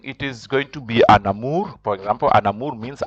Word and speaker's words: un amour: You join. You don't say un amour, you say an amour. You join the N and the A, so you pronounce it an amour, an amour.